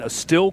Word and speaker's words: Estill: That Prestonburg game tomorrow night is playing Estill County, is it? Is that how it's Yes.